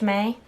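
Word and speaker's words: Mei: This is called May, M-E-I, I think it's pronounced May.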